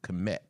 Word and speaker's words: Kemet: Which is also KMT is how you say Egypt in Africology, or that's how Africans would call Egypt, Kemet, right?